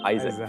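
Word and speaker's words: Isaac: 이삭, 영어 발음은 아이삭이죠. 아이작.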